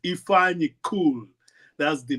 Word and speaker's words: Ifeanyi: And I keep on writing, just say Tiffany without a T. If you would have said Tiffany without a T, it would be Ifeanyi.